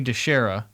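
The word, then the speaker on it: DiChiara: Okay, we need to apologize because we pronounced his name wrong. We did. So it's Sonny DeShera, and I had no idea.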